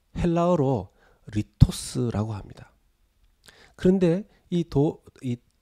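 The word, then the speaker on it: λίθος: 되게 하라 여러분 이 돌은 요 어 헬라어로 리 토스 라고 합니다 그런데 이도 어디 돌 말고 떡은 헬라어로 a 토스 라고 합니다 발음이 비슷하죠 돌은 l 스 떡은 a 토스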